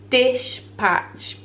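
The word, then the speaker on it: Dishpatch: Dish patch. Like dispatch, but dish patch.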